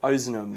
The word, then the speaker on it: Ozanam: Ozanam. How do you spell that?